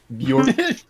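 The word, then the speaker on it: Björk: No, no, it's not spelt with a Y. It's spelt with the J. Bjork. Yes. With a J. A jork? Bjork. The J is silent. The J is what makes the Y sound.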